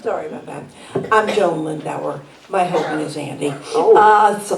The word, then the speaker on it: Lindauer: Rhymes with Budweiser. Internet. I'm Joan. Microphone. Sorry about that. I'm Joan Lindauer.